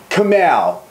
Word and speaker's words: Kamau: It's taken us this whole video to realise that everybody has been saying your name wrong. Yeah, it's Kamau. Kamau.